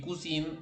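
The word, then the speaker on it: cousine: por eso suenan así kusan nasaliza la i y kusin no la NASA Lisa Porque después de esa m hay una m algo la aclaración por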